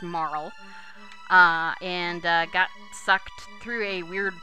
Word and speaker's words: Marle: Actually, her name should be pronounced Marle.